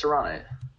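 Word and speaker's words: Saronite: No, it's Serenite. Serenite Chain Gang. Serenite Chain Gang. All right. It's named after Yogg Saron.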